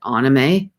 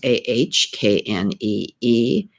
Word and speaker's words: anime: I was calling it anime, but anime is actually pronounced Ahkneemay, anime.